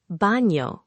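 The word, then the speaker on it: baño: Bano, with the N sound like NY.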